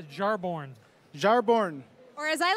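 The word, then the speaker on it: Jarnbjorn: It's pronounced Jarborn.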